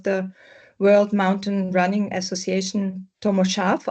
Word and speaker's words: Tomo Sarf: World Mountain Running Association, Tommo Sharf. I hope that's the right pronunciation of your name. Yes, thank you. That's perfect. Yeah, it's perfect.